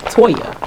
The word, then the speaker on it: Toya: this is real life people mispronounce our name every day it's not that hard toya people call me latonya